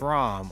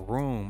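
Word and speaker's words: Raum: I really like this ROM or Room or ROM, however you want to pronounce it.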